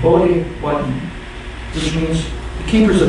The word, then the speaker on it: Potawatomi: Potawatomi is a mispronunciation of Bodhi-Wadden, which means the keepers of the fire.